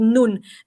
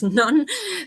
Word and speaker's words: Nun: The hotel is called Nun, and now I realize in English it's it's nun, but so, well, we pronounce it Nun.